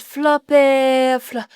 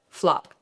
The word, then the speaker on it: Flop: Now, I understand that your name is, did I pronounce it correctly? Is it Flappy? Flapper. Madame Flop.